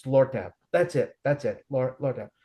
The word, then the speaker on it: Lortab: Laura something. Mhm. You mean Lortab? There's no A in it. It's Lortab.